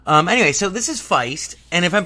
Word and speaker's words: Feist: to play fice and i think it's pronounced feist just like the band FBI st anyway so